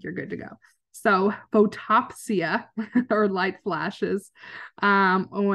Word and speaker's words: photopsia: like the sparking and I've always called pronounced this photophosia until my graduate student thank you so much krishana for pointing this out for me that um it's actually photopsia so yes but photophosia